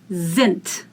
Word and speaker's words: sind: Wir sind. Sind. Die in the end is pronounced as t.